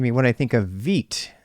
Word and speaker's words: Vite: what I think of Veet apparently even though it's spelled white Americans are going to say white um I mean I